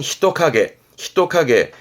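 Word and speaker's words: 人影: 발음은 히토카게.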